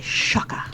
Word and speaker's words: Csaka: But there's no H. It's CSAKA. No, I know. He's a patron. He spells it phonetically for me because I've screwed it up so many times. Oh, okay. So it's Shaka, like Shaka Khan?